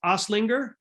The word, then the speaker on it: Osleger: here with my friend dylan don't help me pronounce your last name is oslinger yeah okay i'm the worst at pronouncing pronouncing